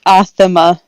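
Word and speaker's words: athame: is a ritual knife it's pronounced athama oh cool and okay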